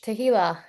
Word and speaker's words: Tehila: Like tequila with an H, Tehila, All right.